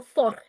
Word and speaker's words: fort: Dans la cour, les enfants parlaient fort et riaient beaucoup. The deuxième one. Four. Deuxième. Just make sure we're not pronouncing the fort, the t very emphatically. We don't need it. So fort.